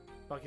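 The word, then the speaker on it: Buc-ee's: recently opened in Missouri buckes is how it's pronounced gotcha yeah I mean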